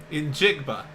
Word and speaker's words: Njigba: Njigba. Yep, that's how you pronounce his last name.